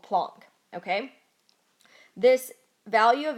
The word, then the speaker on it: Planck: call this plank or some people call it plunk I was just taught that it's pronounced plunk I don't know if that is